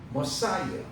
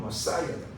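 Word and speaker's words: Messiah: 영어로 머사이어. 영어 발음은 머사이어다. 메시아.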